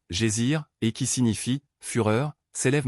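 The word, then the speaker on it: geyser: Le GER, mot que les Islandais prononcent. gésir et qui signifie fureur s'élève majestueusement à son extrémité.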